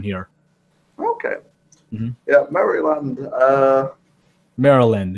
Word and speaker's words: Maryland: Maryland. It's not actually pronounced Maryland. Maryland is better.